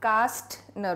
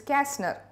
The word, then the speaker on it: Kästner: This is not Kastner, okay? This is Kästner. What is it? It is Kästner.